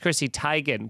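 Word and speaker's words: Chrissy Teigen: who's john legends chrissy it's like it's actually pronounced chrissy tygan but like she just said that recently and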